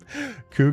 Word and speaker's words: Cú: The way I say Sensei's name is Ku.